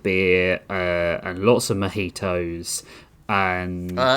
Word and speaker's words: mojito: Uh we sat on the riverbank and drank lots of beer uh and lots of mojitos and uh it's pronounced mojito.